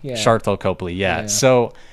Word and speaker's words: Sharlto Copley: Sharlto Copley. Yeah. Sharlto Copley.